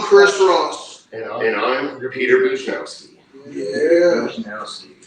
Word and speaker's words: Bujnowski: Bujnowski.